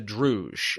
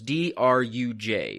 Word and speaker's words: Druj: It's known as the Druj. I'll spell it out for listeners. D-R-U-J, which roughly translates as like the nothing, is